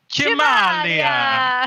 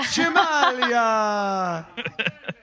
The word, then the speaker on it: Cimaglia: Cimaglia. Cimaglia. Proper Italian thing going on there.